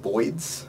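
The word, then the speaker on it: boids: explanation we she called Boyd's which is the play on a mispronunciation of birds I believe he was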